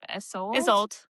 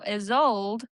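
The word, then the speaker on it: Isolde: And uh I don't know how to pronounce her name. Isold is old. Is old. Is old. Do you remember that the movie Tristan and Tristan and Isold? I love that movie.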